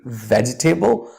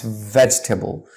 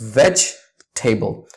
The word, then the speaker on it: vegetable: it's pronounced as vegetable you see the e is silent in between so it's veg table just drop the e of course not from the writing when you're saying it's veg table it's vegetable it's not vegetable but